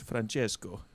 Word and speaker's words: Francesco: You've got to say it with a much more sort of rounded Francesco. yeah. Italian R.